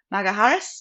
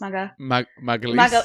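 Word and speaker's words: Gabriel Magalhães: I always say his last name wrong. Maga Harris? Magalhaes.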